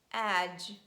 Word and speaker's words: edge: too much that's why we just omit letter d in pronunciation and we pronounce j sound instead and we say badge edge fridge judge bridge letter d is also